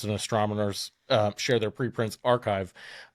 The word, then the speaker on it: arXiv: Beatriz Villarreal submitted her paper to a very large repository where physicists and astronomers share their preprints archive. It's spelled ARXIV.